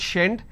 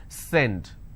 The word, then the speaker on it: send: they pronounce this so if you make a mistake you will end up pronouncing this as shend shendit it's not shend it's send so these are the